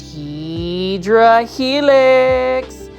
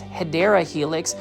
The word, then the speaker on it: Hedera helix: Now over here we have our favorite Hydra Helix. And for those that are new to the channel, I mispronounce Hedera helix, which is the correct way to say English ivy.